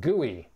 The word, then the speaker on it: GUI: graphical user interface objects also known as gui which is frequently pronounced gui so uh when we